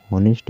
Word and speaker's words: honest: उदाहरण के लिए , "honest" में, "h" "o " से पहले आता है, इसलिए "h" साइलेंट रहेगा।